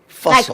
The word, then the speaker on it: Fussell: Fussell. Like Russell, but Fussell. Fussell.